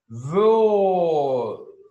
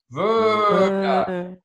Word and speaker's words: Würde: Würde. Würde, ver. This is like ver, ver. But it's like lips together. Show me your lips together. Ver, verda, verda. That one's verda.